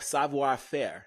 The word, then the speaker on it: Savoir Faire: The homie Kamoy J, stylist, entrepreneur, owner of Savoir Faire.